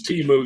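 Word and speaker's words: Temu: what Teemu even was I thought it was like Emo or emu or emo emo emotional music or whatever I say it's teu you are correct I say it's it's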